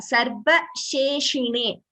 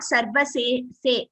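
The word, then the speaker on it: सर्वशेषिणे: Sarva, this sa is sa. The next letter is sha. Sarva sheshine. This sa and this sha are different, so they have to be differentiated while pronouncing. Sulabhaya sarva seshine. Sarva sheshine, not sarva se.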